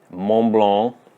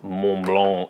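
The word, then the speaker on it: Montblanc: French people like to pronounce words as though their mouths are filled with cotton balls. They don't like consonants. But anyway, Mont Blanc.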